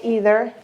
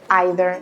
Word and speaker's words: either: Many people say either, neither, but other people say either, neither. This is just a matter of where you come from.